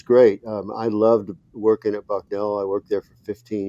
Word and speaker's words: Bucknell: Am I pronouncing that right? Bucknell, yes, it's in Bucknell?